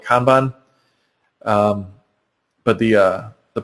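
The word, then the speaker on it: kanban: this is similar to what's called a kban I've heard it pronounced Canan also um but I always call it kban um but the uh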